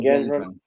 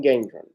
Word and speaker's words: Gendron: How do we pronounce his last name? Gendron? Peyton Gendron? Yes, Peyton Gendron, who shot and killed several people at a Tops grocery store out in Buffalo.